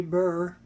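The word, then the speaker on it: בר: the Hebrew bar mitzvah the bar B is the English way of saying the BR and so uh in the Hebrew it would be just simply Burr or and we can use bar I can anglicize the Hebrew a little bit it doesn't doesn't seem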